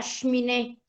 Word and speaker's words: cheminée: La E, cuando no tiene ningún signo arriba, ningún tipo de acento, ningún tipo de marca, no representa ningún sonido. Solo va a representar un minúsculo sonido cuando ella, repito, da término a un monosílabo. Como en el caso de le. En ese caso queda un resabio de una E.